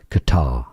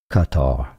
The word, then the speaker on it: Qatar: In English, it's more generally pronounced as Qatar with a stress on the second syllable. But some say it as Qatar as well or more often the Americans say it as cutter.